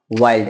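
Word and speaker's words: wild: confusion definitely होता है डब्लू आई एल डी डब्लू को बोलते हैं व आई को बोलते हैं ई लेकिन एलडी आए तो आई को आई ही पढ़ते हैं तो हो गया वाई और एल को बोलते हैं आधा एल आधा ल और डी को पढ़ेंगे हम ड जब दो कंसोनेंट साथ आए तो पहले को आधा और दूसरे को पूरा पढ़ते हैं तो हमारे सामने बन गया वाइल्ड ऐसे ही बहुत सारे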